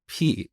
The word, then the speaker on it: pi: concept of constants, but I pronounced this word as p instead of pi. And believe it or not, to this day, people make fun of me for saying p instead of pi. But that's how we learned this back in Iran. We pronounce it as p, and I think Greek people also say p.